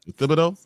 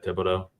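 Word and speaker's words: Thibodeaux: I I'm so bad with names and I butcher them. Uh these lawn names with Tibido. Yeah, Tibido.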